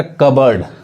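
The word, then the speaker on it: cupboard: अब यहाँ देखिए, अब इसको कप बोर्ड जैसे पढ़ेंगे ये गलत हो जाएगा। ये क्या पढ़ाएगा, कबर्ड, कबर्ड मतलब क्या होता है, अलमारी, यानी पी साइलेंट होता है, पी नहीं पढ़ाएगा, कबर्ड।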